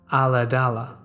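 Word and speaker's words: Ulladulla: We lived in a small rural town pronounced Aladala on the south coast of Australia.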